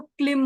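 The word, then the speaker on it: क्लीं: भी है पृथ्वी माता तो यहां पर यह ल जो है ये ज्यादातर अकेला लम ऐसा बीज मतलब गायन इसका उच्चारण नहीं किया जाता है क से जुड़ा जाता है तो क से जब जोड़ते तो क्लिम हो जाता है तो क्लिम करके ये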